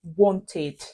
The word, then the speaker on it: wanted: ra syllable I mean when you add Ed to this word it becomes wanted notice it was just a syllable and when e was add to eat it became two syllables wanted however if you look